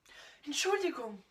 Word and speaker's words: Entschuldigung: Donc tu vois, quand tu as des grands mots comme ça, tu peux les décomposer en syllabes pour arriver à t'entraîner à bien les prononcer.